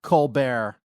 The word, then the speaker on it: Colbert: But let's talk about Col Bear, or as I like to call him, Steven Colbert. Wasn't that his original name? And he changed it to the pronunciation.